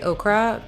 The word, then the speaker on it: ochre: I always want to say ochre because when I see that word, I just want to pronounce it okra, but it's ochre, I believe.